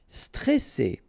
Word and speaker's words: stressé: Okay, remember you've got double S here, so you pronounce it really strong. Well, it's between two vowels. So C, all right. And then here you get this E before the double S, so it will open the pronunciation of the E.